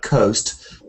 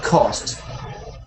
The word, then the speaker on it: cost: the other way they they read coast and they don't say the dip thong sound oh they say cost but you did it back to front for me because um most people will find the o sound or easier easy but the O difficult so you should have said cost not coast and that costs at